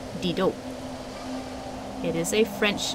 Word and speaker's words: Didot: been a while I know last time I pronounce this D dot it's actually pronounced Dido it is a French name let's we can